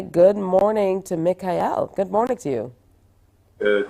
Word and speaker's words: Mekaiel: music Ministry so let's say good morning to Mikhail good morning to you good morning good morning